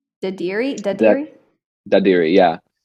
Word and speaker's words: Dadirri: Dadirri, yeah.